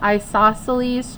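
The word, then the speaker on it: isosceles: right here underneath here I'm going to write it phonetically it is called an I saw cell e triangle isoceles triangle and it is a triangle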